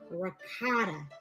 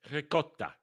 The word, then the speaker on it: ricotta: Having a cappuccino afternoon or calling ricotta ricotta. Calling ricotta. No, it's ricotta. Ricotta. Gotta roll the R, you little bitch. You gotta roll the R. Ricotta. Not ricotta, not ricotta.